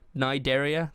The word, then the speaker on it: Cnidaria: Cnidaria, yeah, that's how you pronounce it. That is the Cnidaria.